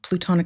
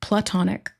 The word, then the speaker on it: platonic: side and look up plutonic solids. Okay, give me one sec, Spirit, thank you. Plutonic solids meaning. Oh, I was saying it wrong. Platonic.